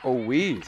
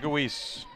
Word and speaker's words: Owies: Actually, I was way off on that. It's Jake Owies. I wouldn't think. Jake Owies. I'm very thankful to Dave McHugh getting some of these pronunciations, because that one I would have been way off.